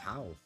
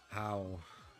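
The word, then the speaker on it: Hau: I want to say it's How. The one we just battled against? H-A-U. However you pronounce that. H, literally, no pun intended, but How. That's how I would pronounce it.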